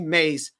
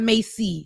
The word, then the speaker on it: Mace: He said Mace, not Macy. So thank you for saying it correctly, Ben. I was saying it wrong. It ain't Macy. Sorry. Mace like the spray.